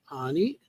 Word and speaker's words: Anie: Anie. Well, she the family was German. Um, so that's that's why the name looks like an or Annie and it's they it's anie is how they pronounced it.